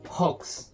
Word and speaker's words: hoax: Gimana bacanya? Hoax. Bukan hoax ya, bacanya itu hoax.